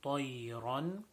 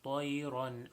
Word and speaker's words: طَيْرًا: طَيْرًا is a ta, not a ta. So ta is also a full mouth letter. So making sure that we say it with the thickness that it should be pronounced with, and also the bend in the word طَيْرًا.